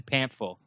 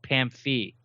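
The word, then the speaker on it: Pamphile: been called him Kevin Pam Ville and Kevin Pam I'll but his name is actually you pronounce it Pam fee because he's he's uh yeah exactly Haitian French and we gave away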